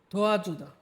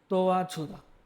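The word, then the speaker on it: 도와주다: ঠিক আছে, তারপর দেখি ধোয়া জুদা। ধোয়া জুদা, ধোয়া জুদা, জিউতটা কিন্তু জ আর ঝয়ের মাঝখানে একটা উচ্চারণ হবে, যদিও এখানে ওটা লেখা সম্ভব না, এর জন্য আমি দোয়া ছুদা, দোয়া ছুদা, অথবা আপনারা দোয়া জুদাও বলতে পারেন, সমস্যা নেই।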